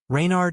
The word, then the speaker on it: Reynard: Reynard is a take on a character from medieval folklore known as Reynard the Fox. It's spelled with an E but it's pronounced the same.